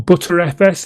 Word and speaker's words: Btrfs: I have no experience with BTRFS, or ButterFS if you want to pronounce it that way.